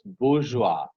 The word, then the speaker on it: bourgeois: They write something and pronounce it the other way. So it's bourgeois.